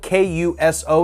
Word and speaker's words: Kuso: I've ever seen in my life called uh it's spelled k-u-s-o it's called kuso I honestly didn't get through